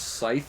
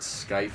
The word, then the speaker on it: scythe: know how to pronounce scythe and then misspelled it horribly so i knew someone who pronounced it skype and it's like no that's that's not how you pronounce it it's not a hard c ko you're pretty easy